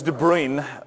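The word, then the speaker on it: de Bruijn: person is De BR did I pronounce it wrong it's de brine I looked it up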